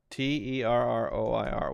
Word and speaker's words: terroir: to look that up t-e-r-r-o-i-r what does that mean a complete natural environment in which a particular wine is produced oh specifically about wine pronounced how terroir okay terroir okay learn something new every